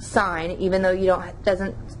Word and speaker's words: sin: represented as s i n a and it's pronounced sine even though you don't doesn't have the e